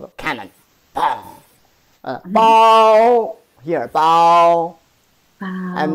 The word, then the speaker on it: 炮: Pow. Here, pow. Pow. And this is pronounced as pow. As a fourth tone.